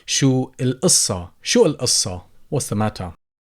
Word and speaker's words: القصة: Again, as you always ask the letter قاف, you can go ahead and pronounce it as قاف. So you could say شو القصة.